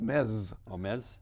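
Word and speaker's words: Metz: another city called mets m-e-t-s m-e-t-z it's calm it's called pronounced mess which is uh not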